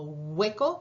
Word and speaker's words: hueco: Algunas palabras que empiezan con H, U, también se van a pronunciar como hueco, parece como una G, ¿verdad? Hueco, huevo.